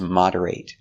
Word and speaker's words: moderate: The verb is moderate. Now we see the same word, but this time it's not a verb. Moderate, with the short sound.